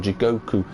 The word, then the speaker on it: Jigoku: the local area, and they're actually called Jikoku. That's actually how they are known as locally in Japan. Jigoku is how you pronounce a hot spring here in the region of Oita.